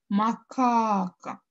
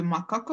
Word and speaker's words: макака: себя произносим слова макака макака я удлиняю второй слог то есть вторую а значит второй слог в слове макака будет ударным вариант b будет правильный